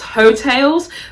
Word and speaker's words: Heaux: It's spelled Heaux, like hoax, almost like a little bit like hoax tales. So Heaux. Oh, can we also talk about how she looks on her album cover?